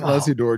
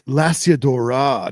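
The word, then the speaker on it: Lasiodora: I want Smitty to make a shirt that says it's Lasiadora, not Lasiadora.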